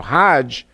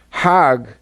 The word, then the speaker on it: hajj: around the circles now hajj is a pilgrim to mecca hag is the egyptian pronunciation hog in hebrew means